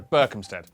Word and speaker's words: Berkhamsted: Oh, sorry, Berkhamsted. which is in Hertfordshire. The only way to be absolutely sure of pronouncing British place names correctly is to live